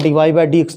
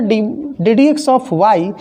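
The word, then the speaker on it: dy/dx: ठीक उसी तरह से एक्चुअल प्रोनाउंसिएशन है डी डी एक्स ऑफ वाई, लेकिन बहुत सारे लोग सिंबल को सुविधा के लिहाज से बोलते हैं डी वाई बाई डी एक्स, तो बोलते हैं यही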